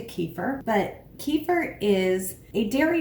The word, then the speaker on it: kefir: which it's pronounced but we don't tend to put stress on the last syllable in english so it's been americanized to kefir but kefir is a